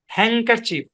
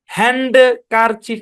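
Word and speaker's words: handkerchief: আচ্ছা রুমালের ইংরেজি হচ্ছে হ্যান্ডকার চিফ হ্যাংকার চিফ হ্যাঁ এখানে ডি টা সাইলেন্ট এখানে ডি টা সাইলেন্ট হ্যান্ড কারচিপ এরকম না ডি সাইলেন্ট এবং শুধু তাই না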